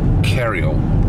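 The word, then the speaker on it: Croxton Kerrial: And we're kind of bypassing Croxton Kerrell. Pronounced Kerrill.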